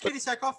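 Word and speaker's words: Katee Sackhoff: Her face sculpt, looks just like Katie Sackhoff there. The actress. I'm sure I'm pronouncing her name wrong. I'm probably gonna get hit, but that's all right. No, you're right. It's Katie Sackhoff.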